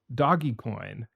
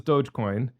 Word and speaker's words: Dogecoin: buy this thing called doggy coin and he was con it wasn't like he wasn't saying doggy coin first of all it's Dogecoin he didn't even know how to say it but he didn't think